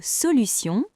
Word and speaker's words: solution: Dans le mot solution, T se prononce S.